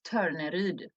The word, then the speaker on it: Torneryd: my whole adult life, I have not yet met a person who's not Swedish who can pronounce my name the way we say it in Sweden, but it's Torneryd.